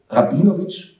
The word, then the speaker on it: Rabinovici: am ende geschrieben ja soll ich dann also rabinowich oder rabinovici nie sagen wir werden intern ausgesprochen dass gefahren informieren in norwich aber als